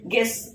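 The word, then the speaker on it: guess: சோ அதனால you silent க ஓ இர்ட் court okay கெஸ் கெஸ் also like that க ஏ இஸ் கெஸ் க ஏ இஸ் கெஸ் ஓகே இங்க யூ சைலன்ட் ஏன்னா யூக்கு பின்னாடி என்ன இருக்கு வர்வல் லெட்டர் இருக்கு.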